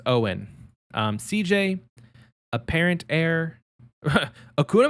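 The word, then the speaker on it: Eoghan: and that was um i think his name is owen it's g e og han but i think it's pronounced owen um cj apparent heir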